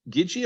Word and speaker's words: Gigi: Epping club and um and uh is it Gigi or Gidget or how do we pronounce Dr Foster's first name is it is it Gigi Foster Professor Gigi Foster that sounds good to me cool okay if